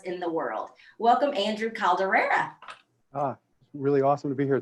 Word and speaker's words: Calderella: Let me just start by saying my name is actually Andrew Calderella. It's like Cinderella.